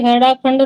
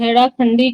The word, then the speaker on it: हड़ाखंडी: इसलिए इसे हेड़ाखंड नाम से अभिहित करके इसके अधीश्वर श्री भगवान का नामकरण हड़ाखंडी किया जाना सुंदर रहेगा। यह समय उस समय उन्होंने पहाड़ी भाषा अनुरूप उसका उच्चारण हड़ाखंडी हड़ाखंडी कहकर इस नाम के पांच